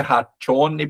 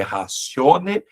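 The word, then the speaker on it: ratione: Lembrando que esse t seguido de ditongo, né, não é pronunciado como t, não é ration personai, é razione persone.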